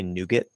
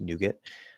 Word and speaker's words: nougat: has multiple pronunciations um i say nougat nougat so it's an e in that second syllable unstressed nougat i think some people say nougat or something like that um so yeah that's